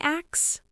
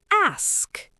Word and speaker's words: ask: vegetable and please please 2025 let's stop saying axe it's ask English learners you're